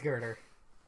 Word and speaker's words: Girder: No, it's Girder.